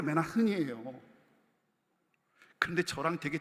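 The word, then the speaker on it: Manhattan: 아닌 그 유명한 뉴욕 맨나 흔이 발음이 원래 맨나 흔이 근데 저랑 되게 잘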